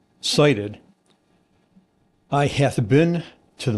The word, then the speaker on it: SIDIT: So si t pronounced uh cited I hath been to the mountaintop and I hath cited the promised land.